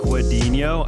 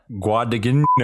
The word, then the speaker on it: Guadagnino: Guadagnino. See, I think the GN just becomes like a nya sound. Yeah. So that's what I'm going on. All right. Guadagnino is pretty easy to say.